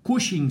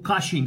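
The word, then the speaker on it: Cushing: اما لو زاد الكورتيزول فهيدي مرض اسمه كوشينج سندروم او في بعض البلاد ينطقوه كاشينج سندروم، مش فرق زي ما نقول خالد او خالد، مش فرق كوشينج كاشينج الاثنين صح.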